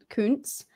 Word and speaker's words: Koontz: Koontz.